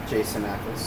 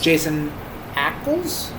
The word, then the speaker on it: Jensen Ackles: Jason Ackles. Jensen Ackles? Jensen Ackles. Jensen Jensen. You don't have to spell it.